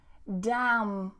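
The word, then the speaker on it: damn: So we have autumn, autumn, dam, dam, column, column, and hymn, hymn.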